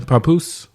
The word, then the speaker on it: Papoose: How do you pronounce his name? Papoose.